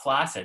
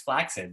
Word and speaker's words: flaccid: It's not flaccid, it's flaccid. There's two C's. Placid is one C. Flaccid has two C's.